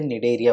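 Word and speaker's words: Cnidaria: यहाँ पे सी साइलेंट है, इसे निडेरिया बोलते हैं।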